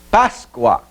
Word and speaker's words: Páscoa: Páscoa. Então, separação silábica, Páscoa. Sílaba tônica, paz. Por quê? pois é a que pronunciamos com mais força.